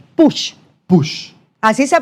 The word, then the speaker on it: Puig: Pius, lo pronunciaste perfecto porque todo el mundo se equivoca, así que tranquilo. El margen de error. En realidad, el apellido catalán, es push.